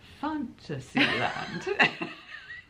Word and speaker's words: Fantasyland: Fantasyland.